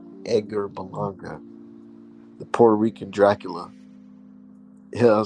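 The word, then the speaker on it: Berlanga: around and pull out a burlanger card yes I said it right Edgar balanga Puerto Rican Dracula yeah I'm saying he gonna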